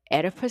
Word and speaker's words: Oedipus: our Oedipus stage, and I know it does start with a O, but it's pronounced E. That's where we're going to find our Oedipus stage as well as our Electra stage.